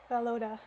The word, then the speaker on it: Volodya: Oh, they're telling me here in the footnotes how to pronounce his name. It's Volodya.